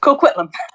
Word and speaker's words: Coquitlam: But tell me, how do you pronounce Coquitlam? Is that right? Coquitlam.